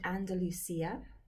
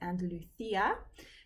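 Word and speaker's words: Andalucía: It's a place called Andalusia. In Spain, you pronounce it Andalucia. So the C becomes a th.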